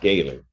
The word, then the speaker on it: Gaylord: Because it's pronounced Gaylord, not. No, it's not two separate words.